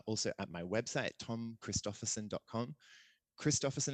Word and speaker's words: Christophersen: Christophersen is spelled Christopher, CHRISTOPHERSEN is on the end, not SON. Don't do it. It's SEN. Think Danish, think Viking, think me.